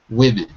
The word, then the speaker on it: women: It's the only word in the English alphabet that has the sound I for the letter O. It's completely bizarre, but that's how we say it. So it shouldn't be spelled like that. It shouldn't have a letter O in it, but it does.